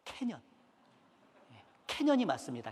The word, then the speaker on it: 캐년: 미국에 가면 캐년 있어요 발음 잘해야 돼 캐년 이 맞습니다 캐년 캐년은 협곡의 협곡 그래서